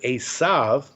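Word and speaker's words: עשו: He was full of hair, and the word Esav in Hebrew, it's almost like Esau, right?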